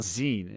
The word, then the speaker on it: zine: is it is it pronounced Zen or Zs Zen as in short for magazine makes sense they're like